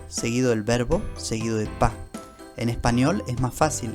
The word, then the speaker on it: pas: Y después del verbo hay que agregar pa. Pa se escribe con una s al final que no se pronuncia.